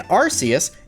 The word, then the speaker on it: Arceus: really cool looking background obviously you know Rus is the god of Pokemon or archus however you want to pronounce it obviously both ways are correct according to different pronunciations that we've heard over the last few years but here we've got